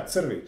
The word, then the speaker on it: Crvik: The winery is called Crvik. Did I pronounce it correctly? Almost, yeah, Crvik.